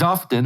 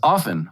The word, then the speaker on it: often: told me recently that the word often is not pronounced with the t in it so like i was saying my guest pedro gonzalez is often on the tucker carlson